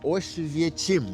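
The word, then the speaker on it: Oświęcim: Estamos aqui na cidade que eu acho que se pronuncia Oswiecim ou algo assim, que é onde ficava o famoso Auschwitz, o famoso campo de concentração e de extermínio nazista.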